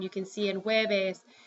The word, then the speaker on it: jueves: J also often sounds like an, J sounds like an H. So for example, you have the word Thursday, which is written like this, jueves. You pronounce it jueves.